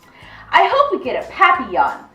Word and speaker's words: papillon: hope we get a papillon like our neighbor's dog you say it like this papi yawn it's in french it means butterfly i help mr vine take